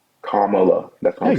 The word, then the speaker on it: Kamala: Also, her name is pronounced Kamla. Kamla. Kamala. Kamala.